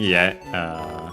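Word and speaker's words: 家: An implied copula is Ledo no Ie, so yeah, red, possessive particle no, and then Ie, which means house. Accent on the last syllable.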